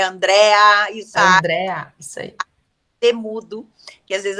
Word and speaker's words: Andréa: aí deixa seus canais o André não tem ir é Andréa André mudo que às